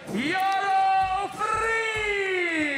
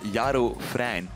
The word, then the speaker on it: Jaro Frein: Riding for This Is Soul Skate Shop out of Amsterdam, your boy, Yaro Free! I'll let you correct the pronunciation on this one. It's a Jaro Frein.